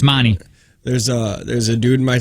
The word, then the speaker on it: Monte: You're saying it wrong. It's Monty.